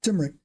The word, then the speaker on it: turmeric: again turmeric turmeric right there's an m in there right I'm leaving the M turmeric you put that in